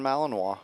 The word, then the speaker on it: Malinois: k9's name is Ace Belgian Malinois is that how you say it that is absolutely correct Belgian malinoa and this is a